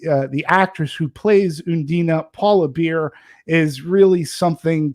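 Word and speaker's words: Undine: e so it's it's i i was originally pronouncing it as undyne but it's undina and it's a german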